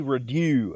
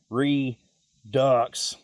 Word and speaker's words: redux: up, I wanted to call it the Huey Redo, as in a second time, second try, second offering. But after some quick research, I was sorely upset to find out that that word is pronounced redux.